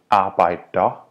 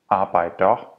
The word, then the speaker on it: arbejder: Therefore, worker would be called arbejder, arbejder. And cars would be biler, biler.